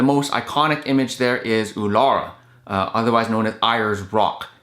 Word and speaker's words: Uluru: And the most iconic image there is Uluru, otherwise known as Ayers Rock. It's spelled Uluru, but we were told that it's pronounced Uluru.